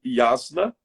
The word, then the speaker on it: Yasna: Para indo para a conclusão, nós temos também o Yasna. Vou soletrar, Carmen. Y-A-S-N-A. Yasna. Yasna.